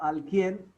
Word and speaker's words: alguien: G plus U was pronounced as G, taken as G as a whole. G plus U is pronounced as G. After that comes I. So alguien por la calle.